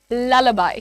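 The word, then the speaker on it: lullaby: इट इज ललाबाई।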